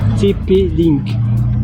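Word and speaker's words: TP-Link: light TP donc tu mets voir pardon c'est TP link ce sont des lumières mais ça s'appelle link l i n k TP link donc tu tapes TP et puis link l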